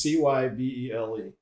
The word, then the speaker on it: Cybele: And in terms of pronunciation, it's Cybele. Yes. And so that, I mean, I'm like, is that Sybil?